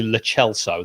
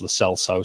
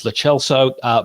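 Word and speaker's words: Lo Celso: hoiberg and uh lately it is actually le chelsea that's how you pronounce it but everyone says la sell so so we'll just go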